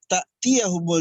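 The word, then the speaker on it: تأتيهم: Ta'tiyahumul di sini ya di ujung hampir ayat pertama itu ujung atasnya bukan ain tapi hamzah. Jadi bacanya ta'tiyahumul. Jadi bukan ta tapi ta'tiyahumul ya.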